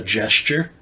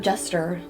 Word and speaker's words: jester: It means No, that I know what a court gesture is, but like, A gesture? am I not saying it right? jester.